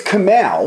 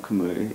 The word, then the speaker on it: Kamau: it was like Cal but it's it is Camal wait it's Camal it is Camal stop just wait I've been told that it's it's not kamu it's it's a five letter name I don't